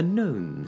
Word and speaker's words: gnome: A gnome sits with his silent G beneath a small home